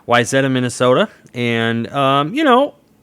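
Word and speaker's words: Wayzata: 69 forward out of waya is that how you say it wetta wetta there you go wetta Minnesota and um you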